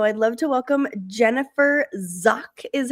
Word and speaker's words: Zach: Uh, so I'd love to welcome Jennifer Zach is how you pronounce her last name. It's spelled Zach, but it's not pronounced like that.